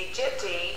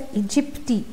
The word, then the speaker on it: aegypti: Aedes aegypti, Aedes albopictus. They're calling it as aegypti. Looks like this A is silent.